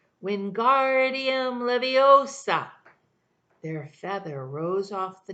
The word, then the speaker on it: Wingardium Leviosa: much more like when Guardium Leviosa he shouted waving his long arms like a windmill they're saying it wrong Harry heard Hermione snap its Wingardium Leviosa make the guard nice and long you do it then